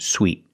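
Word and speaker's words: suite: First, let's look at these two words, because these two words are pronounced exactly the same. Sweet and sweet. In both words, we use the long E sound like in green beans.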